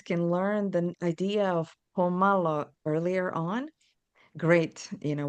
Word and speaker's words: pomalo: It's pomlo. So it's spelled P O M A L O and it means malo means little and pomalo means it's an adverb.